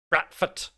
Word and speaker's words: Bradford: But you have to say it like the 2 letters, the 2 D's are actually T. So it's like Bradford.